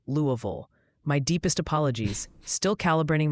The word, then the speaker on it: Louisville: And apparently I butchered Louisville in the last update. Multiple viewers are helpfully informing me it's closer to Louisville.